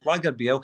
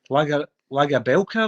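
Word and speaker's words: Lagerbielke: It's Bielke. Lager Bielke. He pronounced it in an interview. I've heard commentators saying Lager Belka and all that. His name isn't Lager Belka, it's Lager Bielke. He pronounced it. That's how you pronounce it.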